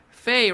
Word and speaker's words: Faye: Faye, Rhymes with Slay, says, gee, I went to bed 6 hours ago, you were live.